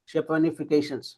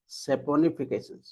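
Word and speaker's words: saponification: क्या बोल रहे हैं, शेपनिफिकेशन। Spelling is correct. SAP वो होना चाहिए, राइट? यस, सेपोनिफिकेशन। राइट।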